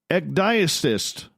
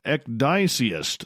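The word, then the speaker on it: ecdysiast: Ecdycist. Oh, I totally butchered that. Oh, Ecdyceist.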